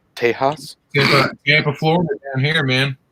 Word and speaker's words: Tejas: It's pronounced Tejas.